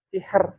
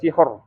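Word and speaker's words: سحر: harakatnya adalah kasrah ya Misalnya gimana n sih sihr ya sihr bukan sihor bukan sihor ya tapi sihr nah biker nah biker biker sih biker ya biker Jadi bukan bukan sihr bukan bikr ya bukan BR tapi sihr biker ya bik biker meemang agak susah tapi harus latihan ya Oke diikuti ya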